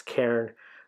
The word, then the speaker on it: Cairn: I got to watch my pronunciation on that. It's Karen.